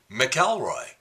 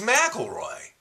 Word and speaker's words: McIlroy: of the year, and she's pronouncing his name Rory McIlroy. It's McIlroy.